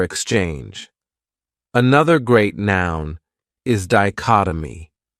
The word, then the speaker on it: dichotomy: another great noun is dichotomy this word has four syllables and the stress is on that second syllable dichotomy that third syllable has that schah that uh sound dichotomy what it means is